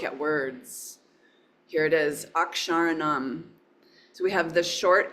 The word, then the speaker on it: akṣarāṇām: It's the KS sound, ksha, kshatriya, ak, sha. Here's a long ra. So the letter R plus long A, and you see it down here. Here's the retroflex na, long A. Akṣarāṇām.